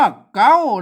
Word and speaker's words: เก๊า: นี้ นะ ครับ อื้อ อ่าน ว่า เก๊า นะ ครับ ไม่ ใช่ เขา นะ ครับ อ่าน ว่า